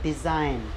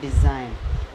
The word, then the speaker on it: design: DESIGN, इसे पढ़ते हैं हम डिज़ाइन। क्या पढ़ते हैं? डिज़ाइन।